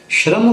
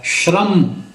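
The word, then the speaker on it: ਸ੍ਰਮ: उस भाषा विच है उच्चारण है श्रम शर्म करके इसका पाठ नहीं होगा स रारा है यह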